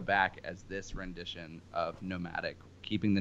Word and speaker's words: NOMVDIC: I know that on Facebook it's Nomadic, N-O-M-A-D-I-C, although now you are using a different spelling where you've taken that A and flipped it upside down. So now it's N-O-M-V-D-I-C, however still pronounced Nomadic.